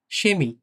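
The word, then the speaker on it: Chemie: সুম্বাসপিল অর্থ হচ্ছে উদাহরণ সেমি এটা হচ্ছে আমরা যে কেমিস্ট্রি বলি না কেমিস্ট কেমিস্ট্রি সেমি হ্যা সেমি এটা কিন্তু কেমি হবে না কেমি অনেকে কেমি উচ্চারণ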